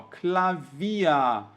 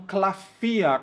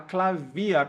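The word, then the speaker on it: Klavier: gente escreve assim ó clavia e eu vejo muito aluno falando cafia como se fosse um f de faca tá errado gente a gente tem que falar clavia com v mesmo por quê essa palavra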